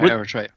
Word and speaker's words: Eritrea: It's us and a little despotic little country in Africa called Eritrea. I don't even know if I'm even pronouncing it correctly. Yeah, Eritrea.